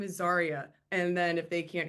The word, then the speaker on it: Zaria: my name, and then they always think my name sounds like the word sorry. So when I say, "Oh, " or it's actually Zaria, they're like, "Oh no, you're fine.